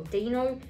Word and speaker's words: Dino: quick draw and um dino or dino is how you say it so pretty much i